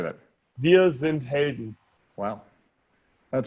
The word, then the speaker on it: Wir sind Helden: Wir sind Helden.